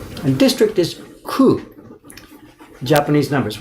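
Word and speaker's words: 九: And ku in Japanese is also the same pronunciation for 9.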